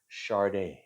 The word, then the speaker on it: Sade: Um, I my understanding is you pronounce it Sade. I would say Sade, but Sade, Sade, Sade.